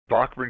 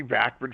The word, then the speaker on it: Bachman: And in our first bio, he put here's my new band, Bachman Turnover. And in parenthesis, he put how to pronounce it, B O C K M A N.